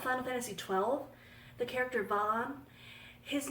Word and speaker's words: Vaan: I think the locals pronounce it Van because it's kind of a family name where I live here, and the name is pronounced Van, but I pronounced it Vaan. You can call Vaan whatever you want.